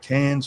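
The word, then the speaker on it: Cannes: some people call it can's film festival. Well, the proper pronunciation is can.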